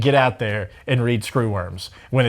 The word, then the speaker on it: screwworm: So you played Secra Worms on the air? I mean, it obviously... Secra Worms. That was me trying to pronounce the word screwworm.